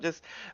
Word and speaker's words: Joost: Is it Just? Am I saying that right? Yeah, it's German, Joost, aber yeah.